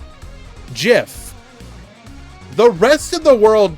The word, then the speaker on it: GIF: The creator of the .gif file type, the person who literally created it, said that it is supposed to be pronounced .gif.